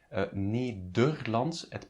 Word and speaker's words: Nederlands: Nederlands, it's pronounced as an U, the second E.